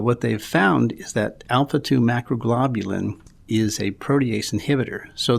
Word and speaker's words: alpha-2 macroglobulin: about a2m and do you know how to pronounce it because i don't yeah alpha2 macroglobulin there you go so alpha 2 macro globulin